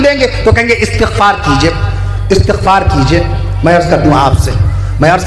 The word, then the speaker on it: استغفار: ترجمہ یہ جو ہم لوگ کہتے ہیں استغفار کرنا چاہیے بھائی، استغفار نہیں، صحیح تلفظ ہے استغفار.